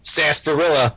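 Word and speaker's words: sarsaparilla: quote milkshakes and I'm gonna say it SAS Barilla I said it right yes um I I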